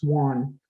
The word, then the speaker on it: awan: spelt a-w-a-n but we we don't pronounce the a it's one when we talk about